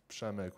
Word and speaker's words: Przemek: It's my short name actually, Przemek, but you pronounce it Przemek with like silent P, and then RZ makes like a sh sound. Sh. Ho hem enganxat? Przemek.